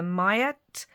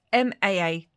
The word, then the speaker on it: Maat: am not Egyptian, but it's either Mayat or Mayat, I think it is, Maat. Mayat.